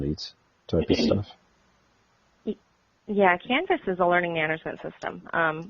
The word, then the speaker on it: Canvas: on that, dealing with Canva. Canva? Did I pronounce that right? It is Canvas, like a blank canvas.